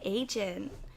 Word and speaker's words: Adjan: This is Diana, and I'm so excited because today we have Agin. Wait, that is how you say it. That was excellent.